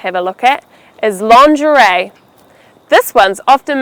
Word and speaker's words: lingerie: So the word again is lingerie. Please don't call it lingerie. That's totally wrong. Lingerie, lingerie.